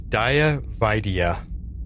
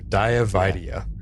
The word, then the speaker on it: Daya Vaidya: to see oh definitely the actress is Daya vaidya yeah thank you yeah I think I pronounced her diavidea last episode I think that's how I pronounced it but anyway yeah yeah